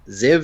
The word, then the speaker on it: Ziev: Zev is how it's pronounced, but it's Z.